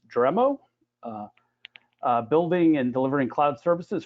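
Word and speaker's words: Dremio: Nirmalya has worked for companies like Oracle, Cisco, and startups like MapR, and I believe the pronunciation is Dremo, building and delivering cloud services for customers.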